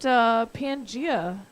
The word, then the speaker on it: Pangaea: a little bit about Pangaea oh wait first off are we pronouncing that correctly P you are pronouncing it correctly yeah the prehistoric formation